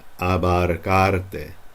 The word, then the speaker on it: abarcarte: No alcanzan a abarcarte. See how those A's? Abarcar. And then an E. Te. Abarcarte. It's not abarcarte. Abarcarte.